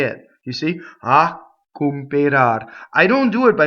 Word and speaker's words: a cooperar: Next line, a cooperar l'anello. Okay, so the A is a strong monosyllable. It makes a slight double C.